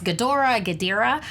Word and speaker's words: Ghidorah: Like I said, it's the arch nemesis, and I keep on mispronouncing his name. It's Ghidorah.